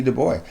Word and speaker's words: Du Bois: Du Bois. Bois or Boy, however you want to say it. Du Bois. I don't know. I know the S is silent.